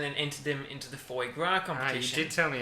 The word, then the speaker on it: foie gras: i know that so the correct pronunciation was foie gras no not foy grass okay well i'm gonna